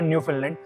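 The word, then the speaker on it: Newfoundland: इस टाइम पे न्यूफाउंडलैंड करके, न्यू फिनलैंड आप कह सकते हो, न्यूफाउंडलैंड कह सकते हो, न्यूफाउंडलैंड एंड लैब्राडोर जो कि एक प्रोविंस है कनाडा में, उसकी प्रोनाउंसिएशन होती है न्यू फिनलैंड, ठीक है।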